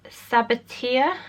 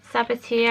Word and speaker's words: Sabatier: And it's from the brand Sabatier, I think you pronounce it. Sabatier, I think it is.